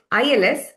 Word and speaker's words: ils: This ILS is they. they, Il. So the pronunciation of singular il and plural il is the same because S is never pronounced in the end.